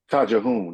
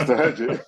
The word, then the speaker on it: Tahajjud: Let me try this Tajahoon. I didn't know how to pronounce it right. Tajahoon. It was Tahajjud.